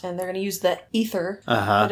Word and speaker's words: Aether: they're gonna use that ether but it's spelled like either yeah but they keep saying ether so yeah whatever the a is silent I guess sure so they're gonna